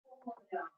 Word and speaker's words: foram: Ele foi, nós fomos, eles foram. Foram. Perceba que o N no final nós não fechamos a boca, mas foram. E a sílaba mais forte é foram.